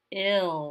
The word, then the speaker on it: ill: it's only two taps remember the second bonus letter is silent all okay let's try ill like when someone is